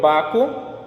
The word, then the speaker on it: Baco: o barco ou dionísio se pronuncia o meu baco ele ficar compra a